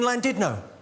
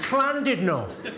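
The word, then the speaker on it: Llandudno: you bloody fool it's cled no in Wales the Double L is pronounced with a c I said all right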